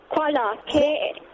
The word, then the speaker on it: Kuala: How do you pronounce Kuala Lumpur? Is it koala or koala? Koala.